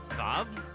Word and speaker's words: Vav: Wow, it's pronounced Vav. I'm gonna keep calling it Wa, because I'm correct.